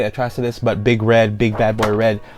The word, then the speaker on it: Atrocitus: That's right, I'm learning as much as I can to say his name correctly, Atrocitus, but big bad boy red lantern here.